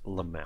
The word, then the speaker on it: LMAO: to the 1800s um it's pronounced lamay oh so what do